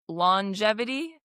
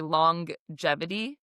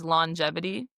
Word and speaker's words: longevity: So, it's actually pronounced longevity. Like you're not supposed to say longevity. It's longevity.